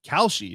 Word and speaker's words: Kalshi: Kalshi is how it's pronounced.